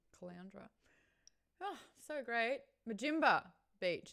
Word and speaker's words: Caloundra: I like Caloundra. It's like Flounder's sister or something, brother. Caloundra.